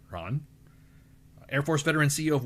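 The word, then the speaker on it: Rahn: He is spelled R A H N. Ron, Air Force veteran, CEO of Warriors Next Adventure.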